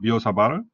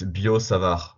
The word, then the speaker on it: Biot-Savart: How about this guy, the Biosabar? Yeah, it's good, it's good. Say again? It's Bio Savar, but it's fine. It's the Biosabar. air at the end.